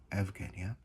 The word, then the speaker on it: Eugenia: Greek eurisko, find, discover, with the diphthong eu being pronounced ev, e.g. Euripides - Euripides, Eugenia - Evgenia, Euclides - Evclides, and so on.